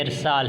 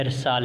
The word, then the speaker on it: ارسال: جو کہ درست نہیں۔ اصل میں یہ ارسال ہے، یعنی اگر آپ اور ہم ارسال تلفظ کے ساتھ اس کی ادائیگی کرتے ہیں تو اس کا مطلب ہے کہ ہم اس کے تلفظ کو بگاڑ رہے ہیں۔ یہ اس کے صحیح تلفظ نہیں، بلکہ اس کا صحیح تلفظ جو ہے وہ کیا ہے؟